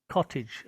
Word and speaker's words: cottage: fantastic cottage yeah good i've noticed that many people say that word cottage a little bit wrong this a g e at the end of a word it sounds like edge edge and i can